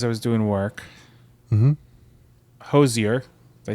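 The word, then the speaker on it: Hozier: Hosier.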